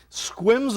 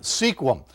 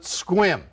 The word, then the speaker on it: Sequim: is in squim washington squim's a funny town it's spelled s-e-q-u-i-m sequim but they pronounce it squim they get a big